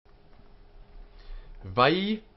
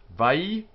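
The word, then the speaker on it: וַיֹּאמֶר: Notice the dot inside the yud, telling us it's doubled. Vayomer. Three syllables. And he said, Vayomer. Vayomer. And the accent is, you see from this little sign here, on this part of the word.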